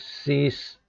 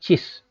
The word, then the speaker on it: cis: so this one is c is two beauty i hope you pronounce this correctly and this one is not cheese it is cis cheese is different thing